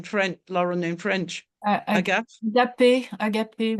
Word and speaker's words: Agape: Agape, we say. Agape, with an accent on the end.